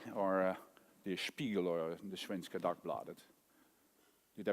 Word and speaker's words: Svenska Dagbladet: title to buy, or the Spiegel or the Svenska Dagbladet. Did I pronounce it correctly, the Svenska Dagbladet? More or less. How do you pronounce it? Svenska Dagbladet.